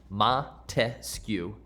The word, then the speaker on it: Montesquieu: students this mnemonic device ma te sku three syllables three branches of government